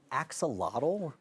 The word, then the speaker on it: axolotl: He brought in an axolotl.